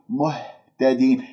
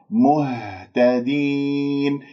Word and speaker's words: مهتدين: للنفس، باهتزاز بأقصى الحلق، لا تقول مهتدين، هذه هواء خارج من الرئة من الصدر، ما لها علاقة بالها، يجب أن تحس بالاهتزاز من ها هنا، شوفوا خلصت الهاء من الضم، مهتدين، ولا تجعلن في هذه الحرف الياء هنا، اقفل الفتحتي الألف، مهتدين.